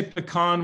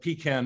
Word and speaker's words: pecan: you say it rocco i say pecan when i'm feeling like fancy but pecan most of the time how do they say